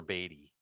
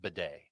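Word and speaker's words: Badie: In Denver, Tyler Beatty. Or I'm sorry, I've mispronounced his name. It's Bidet. No, it's not. I thought you were joking about that. No, he would prefer it be pronounced Bidet.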